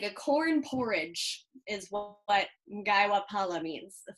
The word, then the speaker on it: Mgaiwa phala: some food uh today we're making gaiwa pala i'm pretty sure is how it's pronounced um which is a